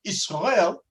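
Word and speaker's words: ישראל: The word Israel in Hebrew, the letters Israel, or I'll pronounce it in Hebrew, Israel, means Yashar El, straight to God.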